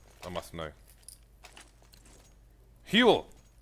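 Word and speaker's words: Huell: Huel. That's 2 syllables. Kind of. It is 2 syllables.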